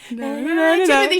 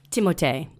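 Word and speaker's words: Timothée: Okay, Timothe, which I recently found out within my deep searches is you actually pronounce his name like Timothe or something like that. Oh. Timothe or something. Yeah, it's something crazy. French.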